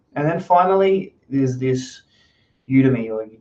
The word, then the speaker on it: Udemy: then finally there's this udemy demi depending on how you want to pronounce a course called the